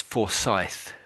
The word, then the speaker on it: Forsyth: Um, this name is so it's Forsyth. Forsyth. oh, Yeah. oh, Scythe. Yeah, that's it. Yeah, Oh, Scythe. for Yeah. Scythe. Yeah. The name for Scythe. Your TH is a bit F at the moment.